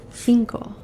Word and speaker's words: cinco: But this number is number 5, and it's said cinco.